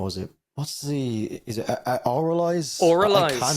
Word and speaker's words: Avralize: But yeah, they're like, yeah, everyone calls it avralize, and they're so they actually have admitted that it's oralize. Yeah, oralize is what it is.